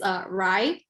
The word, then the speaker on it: Rhye: Okay, so right now, for sure, it's Rye. It's one of them. What is it? Rye. How do you spell it?